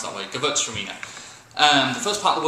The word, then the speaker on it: Gewürztraminer: Gewürztraminer, 5 syllables. Gewürztraminer. Break it down, it's a little bit easier to pronounce that way. Gewürztraminer.